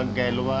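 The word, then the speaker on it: Galois: World was Kund bye बाय गैलोस pronunciation इनका गैलवा है।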